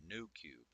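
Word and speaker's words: Noocube: Aderall like a called New Cube I paid a pretty penny for quite a few bottles I should also point out that new is spelled no so n o o q for show you guys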